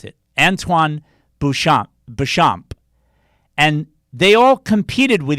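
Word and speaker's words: Béchamp: terrain mattered and bernard got his from antoine bouchard sorry i knew i mispronounced it antoine boucham bechamp and they all competed with each other but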